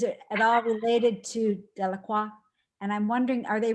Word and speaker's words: Delacroix: Just if Yeah, you're, I thought it was pronounced LaCroix. Delacroix it is.